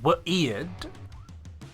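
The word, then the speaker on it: Wyrd: Is it weird, wired, weird, word? How do you pronounce it?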